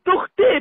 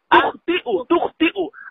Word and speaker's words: تخطئ: تخطي بالياء ليس بالهمزة. تخطئ أخطأ يخطئ بالهمزة، وأنت قد قلت بالياء، هذا ليس بالصحيح.